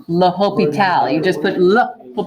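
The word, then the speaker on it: L'Hôpital: he's French Frenchmen that's how you pronounce his name laho Pete al you just put look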